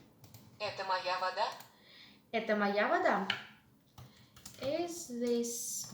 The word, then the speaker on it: вода: Моя вода. Моя вода. Моя вода, my water. Possessive pronoun my in the feminine. Вода, mind the pronunciation. An unstressed syllable O is pronounced as A.